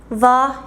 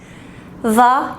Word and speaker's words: hva: Aquí también tenemos una H, pero en combinación con la V, se pronuncia solo como si fuera una V, pero con vibración.